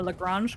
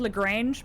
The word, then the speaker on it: Lagrange: But I believe the person was Italian, and then his name is pronounced in French, and it became very confusing. So I think it's a Lagrange cloud.